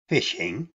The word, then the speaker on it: phishing: crimes but in its most basic form phishing pronounced fishing is a scam in which a victim is